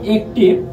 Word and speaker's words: একটি: viewers পরবর্তীতে লক্ষ্য করো একটি একটি বানানে একটি এক থেমে গেছি হসন্ত আর ট এর রহস্য টি একটি ভিউয়ার্স এক